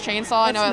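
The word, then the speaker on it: Khainsaw: My cosplay name's Chainsaw with a K instead of a C at the beginning. Like a K-H? No, yeah, but it's still pronounced Chainsaw.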